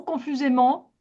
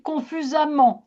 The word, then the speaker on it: confusément: Confusément. Confusément. Donc c'est ça vient de la confusion. D'accord. Et euh si ça avait été avec 2 M, j'aurais dit confusamment. La la prononciation aurait changé.